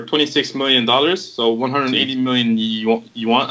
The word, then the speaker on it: yuan: So but the industry is worth over $26 million, so 180 million yuan. I don't know what to pronounce this. Guys, help. Yuan? One.